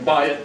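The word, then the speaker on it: בַּיִת: Bayit, when it's combined with the word David, changes the pronunciation from bayit to Beit.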